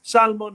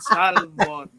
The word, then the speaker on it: salmon: flips to perfect dish Salmon Head I mean they don't waste any part of the fish even the letter L they pronounce every letter in Salmon you know it's not salmon it's salmon what is this salmon